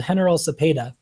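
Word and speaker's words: General Cepeda: is this little town called henal Sepeda it's spelled General but it's in Spanish so um but it's it's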